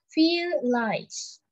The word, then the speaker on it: vielleicht: Di sini V, tapi kita juga bisa kita lafalnya itu kayak F, Fatima gitu. Jadi bisa bilang vielleicht. Artinya maybe.